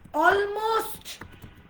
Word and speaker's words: almost: আমরা বলি অলমোস্ট, already, right? তারপর আমরা কি বলি? অলমোস্ট, already, অ্যালমন্ড, right? অ্যালমন্ড বলি আমরা, অ্যালমন্ড। তারপর কি বলি আমরা? স্যালমন, স্যালমন। সবগুলোকে এল লেটার সাইলেন্ট করে পাশের লেটারকে স্ট্রেস দেন।